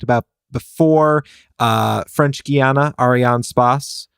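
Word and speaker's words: Arianespace: before uh French Guana Arian Spas I think is how you're supposed to pronounce it's French um they have their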